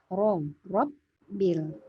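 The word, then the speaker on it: رَبِّ: Rabbil, ro ya tebal.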